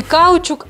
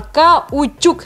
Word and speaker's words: каучук: по описанию каучук или каучук правильно будет не гальчук не каучук а каучук на последнюю у на последнюю классную такие